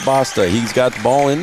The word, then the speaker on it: Basta: yeah it did Basta is how we pronounce his name b a s we were told to pronounce it Basta he's got the ball